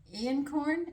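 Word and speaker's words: einkorn: it's called now listen my son said in corn another one said iorn I'm going to pronounce it inan corn it's e i n k o r n and they said it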